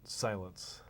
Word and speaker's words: Cylance: I know I'm supposed to pronounce it Cylance because that's actually part of what Cylance does, right? That's right, exactly. We are focused almost entirely on making security very silent.